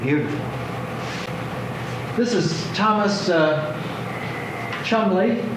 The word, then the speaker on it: Cholmondeley: This is Thomas uh Chomley, spelled Cholmondeley but pronounced British way as Chomley.